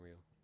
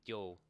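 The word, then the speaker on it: Ryo: Alright, get home, Rio. I've noticed people like turn his name into one syllable in this game, like, yo.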